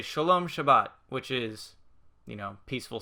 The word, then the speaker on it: Shabbat: the sabbath elevator um the hebrew is actually pronounced it as shabbat that's that's what it is in in hebrew